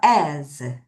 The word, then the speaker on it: as: 바로 요 아이의 발음이 z로 발음이 나요. 자, 따라해 보세요. as.